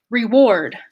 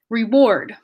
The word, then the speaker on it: reward: you might have heard reward reward before but reward is a little bit less effort that stress is all the way on the second syllable reward reward and because